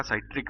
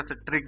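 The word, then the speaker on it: citric: पाया जाता है आपका साइट्रिक अम्ल या साइट्रिक या सिट्रिक भी इसको बोला जाता है सिट्रिक या साइट्रिक दोनों ही इसके मतलब नाम है स्पेलिंग एक ही है प्रोनंसिएशन लोग अलग-अलग करते हैं और जैसे अगर हमने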